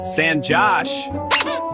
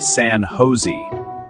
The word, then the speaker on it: San Jose: San Josh. It's actually pronounced San Jose. Oh, really? Yes. In English here, the J is pronounced like H.